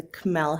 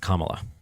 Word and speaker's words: Kamala: had started with a Camila Harris so she would have had time to build up her sorry am I saying it wrong? Yeah it's uh pronounced Kamala Kamala Kamala